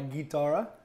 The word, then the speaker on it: chitarra: So this is actually called spaghetti alla chitarra, or if you pronounce it right, spaghetti alla chitarra.